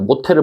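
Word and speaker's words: 못해: 그다음에 모태를 볼까요? 얘는 바람 어떻게 돼요? 모태. 그래서 얘는 거센 소리 되기가 일어난 거죠.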